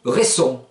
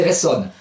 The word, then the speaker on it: resson: Exemple, l'écho, lou, resson. Oui, il y a le son, et le son qui revient, ça donne lou, resson. Voilà, ne pas prononcer ressonne, resson.